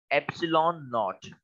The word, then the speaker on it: epsilon naught: This term is pronounced add एप्सिलॉन नॉट।